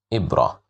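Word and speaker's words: إبرة: Here we have the sound kasra which makes it pronounced as e which means a needle.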